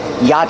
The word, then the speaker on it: yacht: Peninsula Yacht Club pronunciation yacht the CH is silent dough pronounce the CH it's yacht the vowel ah is the open ah sound like hot and stop together yacht the t is a stop T at the end after the vowel yeah